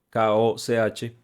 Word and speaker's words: Koch: En 2019 se hizo un estudio interdisciplinario por Koch, K-O-C-H, Koch, se puede pronunciar en español, donde se analizaron muchísimos